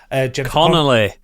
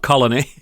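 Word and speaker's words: Connelly: you say her name con con Conelly not Colony that's the problem struggled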